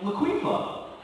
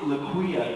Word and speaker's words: Laquifa: so I was like Laquifa that is an interesting name she throws down the place she's like uhuh it's laquia the f is silent I was like well